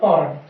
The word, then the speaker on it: foreign: Example FOREIGN, ठीक है फ्रेंड, इसमें हम G साइलेंट कर देंगे ये, और क्या बोलेंगे इसे, केवल फॉरन।